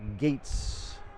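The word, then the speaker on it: Goetz: but instead it's zach gates again gate spell g-o-e-t-z that sounds like a german pronunciation icing the call on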